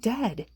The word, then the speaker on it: dead: sounds like bird and dead it's said like bed not bead for goodness sake don't call it deed watch out for meat